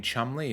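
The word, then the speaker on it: Cholmondeley: yeah it's like um British Towns how they are written like this but they are pronounced like much differently like this being Chumley is a bit of a stretch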